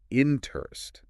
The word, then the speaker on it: interest: hear it interest interest I say interest with the emphasis on the second syllable you got it that's